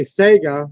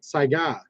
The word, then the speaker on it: Saiga: This is the American, way of pronouncing it. But it's actually Mosin Nagant. Just saying. Just like I'll say Sega when it's Saiga.